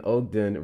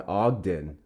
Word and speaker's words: Ogden: Short O sound. The OG in Ogden rhymes with cog or dog as in Ogden.